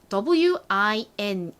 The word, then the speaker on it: wine: 그런데 이런 형태의 단어에서는 대부분의 경우 이 I의 소리는 알파벳 이름처럼 I 소리가 납니다. 그래서 이 W-I-N-E라는 단어는 W와 I가 합쳐져서